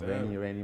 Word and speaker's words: Arenye: might not have been Arenye. It would have been a different name. I think so. But it's how Canadians pronounce it. Yeah, because I wanted it to be very like Kanye, like yay.